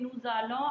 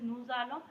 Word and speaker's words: nous allons: Why we say nous allons? I've already told you so many times why the pronunciation is nous allons, because after is vowel is there. So liaison.